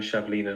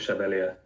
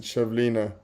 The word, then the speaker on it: Chevalier: we go in defense I said I'm going shovelina not Chevalier all right oops sorry oh is it is that how you pronounce it chevlina yeah okay so he's got